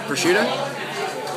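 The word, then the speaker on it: prosciutto: It's arugula and it's a pushuto. Uh it's pronounced by my people pusha.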